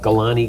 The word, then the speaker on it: Galane: Brodie is the CEO of Galane Gold. That's right. Well pronounced.